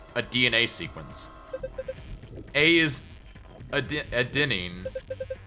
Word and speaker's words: adenine: A is adenine, G is guanine, C is cytosine, T is thymine. Adenine, that's how it's pronounced.